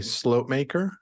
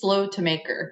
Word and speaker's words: Slotemaker: episode nine with slope maker am I pronouncing that correct almost correctly it's slow to maker but it's okay hello